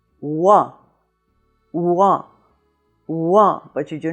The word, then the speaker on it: Rouen: quickly into another sound so it's not two syllables it's one syllable but you hear a lot of the "ou" in the "wuh". So you have Rouen but you do not have ou plus en you have Rouen.